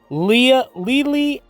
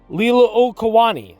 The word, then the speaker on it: Liliuokalani: The last monarch of Hawaii, Queen Liliuokalani, I had it pronounced right in the other video. Queen Liliuokalani, I believe it is, Okalani, was overthrown in